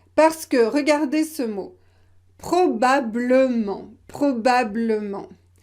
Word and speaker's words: probablement: Probablement, probablement. Imaginez que vous ne prononcez pas le « e ». Probablement, probablement.